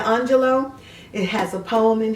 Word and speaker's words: Angelou: And there's a poem in here by Maya Angelou, or some people like to say Angelou, but Maya Angelou.